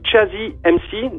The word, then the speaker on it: Tchazy MC: Alors, écoutez, c'est simple, vous tapez Chazzy MC, donc ça s'écrit TCHAZY espace MC sur SoundCloud, Facebook, YouTube ou Bandcamp.